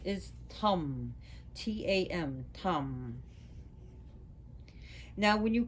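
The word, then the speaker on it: Tam: So as for white Tara, her seed syllable is Tum. T-A-M, Tum.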